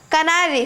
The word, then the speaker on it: canary: First of all, it is not canary. Many people pronounce it as canary, but it's not canary, it's canary. It's canary, it's canary, canary. It's not canary, it's canary. It's can, not can.